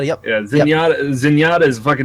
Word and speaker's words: Zenyatta: ] uh I never say his name right Zenyatta is that how you Z SC y yeah Zenyatta Zenyatta is basically a skull